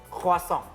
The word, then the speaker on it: croissant: C usually it's pronounced like a K. Yep. Okay. O and I it's wa. Okay. Like O-A in Indonesian. Yeah. Croix. Okay. Double S it's always the S sound. Not a Z sound.